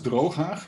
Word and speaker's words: Drooghaag: I believe that only when you are either Dutch or Arab speaking, you can pronounce it properly with the ch. Otherwise, it will just hurt your throat.